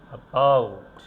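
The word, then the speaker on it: about: যে ওয়ার্ডটা দেখছেন আপনি, এই ওয়ার্ডটাকে আমরা বলি অ্যাবাউট। অর্থাৎ এটাকে আমরা উইক সিলেবলে উচ্চারণ করেছি, আর এই সিলেবলটাকে আমরা স্ট্রংলি উচ্চারণ করেছি অ্যাবাউট, অ্যাবাউট।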